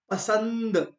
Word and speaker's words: पसंद: इस गतिविधि को करेंगे जैसे मैंने कहा पसंद पसंद पसंद न न का उच्चारण हो रहा है आधा न का उसी तरह दंड का